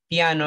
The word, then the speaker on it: piano: The vowel O at the end is O, no O, O, piano.